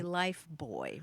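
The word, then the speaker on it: Lifebuoy: Nicole says um but the reason that we don't say life buoy soap is that life booy soap was invented in 1895 by the lever Brothers company in the United Kingdom so that's why we say life boy rather than it kept the British pronunciation even though we also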